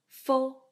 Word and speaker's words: f: And F here is pronounced as Fo, Fo, like number 4.